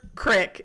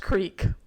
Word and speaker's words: creek: At Amber, crick. It's pronounced creek.